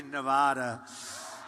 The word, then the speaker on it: Nevada: I said when I came out here, I said, nobody says it the other way. It has to be Nevada, right?